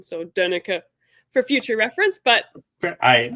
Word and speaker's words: Donnecke: So Donnecke for future reference.